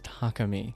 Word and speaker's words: Takami: so I just realized I was saying the guy's name wrong his name is Takami he's the [ __